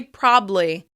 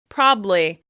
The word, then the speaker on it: probably: I notice that I tend to pronounce it as 3 syllables, but some people will rush right through that word and they'll just say probably. Probably. They'll drop that middle syllable.